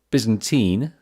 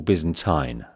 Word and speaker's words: Byzantine: on the pronunciation here there's two ways there's there's bz Byzantine or Byzantine depending whether you're American or you're British well I'm British many